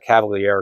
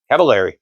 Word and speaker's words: Cavaleri: Uh Cav uh Cavalier, excuse me, Cavaleri. Sorry, I always got the pronunciation messed up.